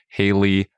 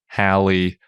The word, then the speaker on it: Halley: not that satellite nope there are three possible pronunciations of Haley's Comet they rhyme with daily Valley or crawly that could be Hayley Hallie or Holly Holly and Holly seems